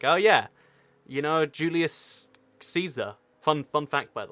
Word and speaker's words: Caesar: yeah you know Julius Caesar fun fun fact by the way his last name is pronounced Kaiser most people get that one wrong yeah one toy cat